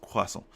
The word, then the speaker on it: croissant: French eat baguette and croissant, and yes, it's pronounced croissant.